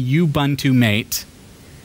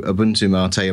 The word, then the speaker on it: Ubuntu MATE: I could be saying Ubuntu Mate. Yeah. I'm sure you've You might have heard that one. I really don't mind on the pronunciation. So Ubuntu Mate, Ubuntu Mate, whatever takes your fancy, whatever comes most naturally, it doesn't matter.